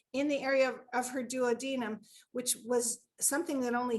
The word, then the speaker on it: duodenum: And in the first 3 seconds, in such a meek, mild voice, she just said, "It's my duodenum." And I know that some people pronounce it duodenum, but that's how she pronounced it to me.